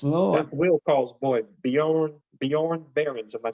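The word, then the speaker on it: Björn Barends: That's Will Call's boy, Bjorn Barron's.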